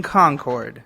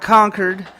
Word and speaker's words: Concord: in Charlotte we were in Concord Not Conquered not whatever you say else Concord and it was again